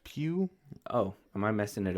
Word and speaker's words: Pugh: Man, it is pronounced Pugh.